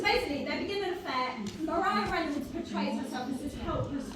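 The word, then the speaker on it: Maria Reynolds: And that's when he meets Mariah Reynolds, which is spelt Maria, but it's said Mariah Reynolds.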